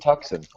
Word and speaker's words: Tucson: just a quick note I believe it's pronounced tuxen um no I was